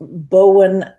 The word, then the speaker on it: Bowen: I have it's called Bowen, and it's not the airplane.